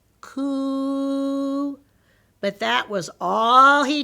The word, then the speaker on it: coup: he was called koops it was called a coup stick you say it like this cool but that was all